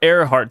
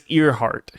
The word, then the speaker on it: Earhart: I I call her Airheart, but it's Earheart. Like ears. E A R. Yeah. E A R, but I think it's pronounced Airheart. I don't know.